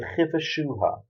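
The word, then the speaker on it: וכבשה: got three dots underneath, so it's a shu sound. And then at the end, we've got a hey, and here it's pronounced ha. So the chi the shu ha, the chiva shu ha, and subdue it.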